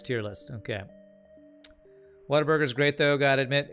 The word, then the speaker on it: Whataburger: It's Whataburger. Like, oh wow, what a burger.